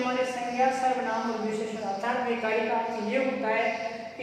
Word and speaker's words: संज्ञा: जबकि भाषा विज्ञान की दृष्टि से हम देखें तो इसका उच्चारण होना चाहिए संज्ञा, लेकिन आजकल हम इसका उच्चारण गे के रूप में करने लग गए हैं।